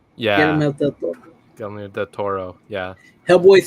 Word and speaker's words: Guillermo del Toro: Guillermo del Toro. Yeah. Guillermo del Toro.